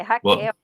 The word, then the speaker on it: Raquel: Rachel ou Raquel, não sei se a pronúncia está correta, mas mandar um abraço para você e boa recuperação, tá? Obrigada, viu, Igor? Boa noite, pessoal. É Raquel.